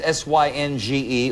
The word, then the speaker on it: Synge: Oscar Wilde, John Synge, that's S-Y-N-G-E, or George Bernard Shaw? George Bernard Shaw. George Bernard Shaw. I agree. No. No? John Synge, S-Y-N-G-E, and I do believe that's the right pronunciation.